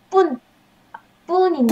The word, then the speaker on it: 뿐: 네, 그리고 발음 뿐인데 뿐. 아까 푼이라고 하신 것 아, 미안합니다.